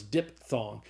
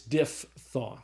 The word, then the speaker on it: diphthong: is called a diphthong probably thought it was diphthong but it's not it's diphthong all right so a